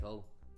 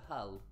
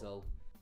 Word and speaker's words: Hull: We don't pronounce H. Like, if I say Hull, it just sounds like Hull. Yeah. But other people go Hull, but it's Hull.